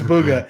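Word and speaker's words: Bugha: boy who goes by is it Booga or bugger I'm out cool okay I think it's Booga the announcer said Booga and everyone I've learned to say his name say bugga anyway sixteen year old American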